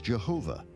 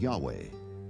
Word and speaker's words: Yahweh: early European translators were ignorant of the correct pronunciation of Hebrew names. Many inadvertently referred to the name of God as Jehovah instead of Yahweh, and ironically, the name has stuck.